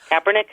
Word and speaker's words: Kaepernick: How do you pronounce that last name? Kaepernick.